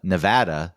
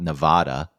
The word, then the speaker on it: Nevada: doesn't it's not anything like anus or uh Nevada is actually how you pronounce the state, not Nevada.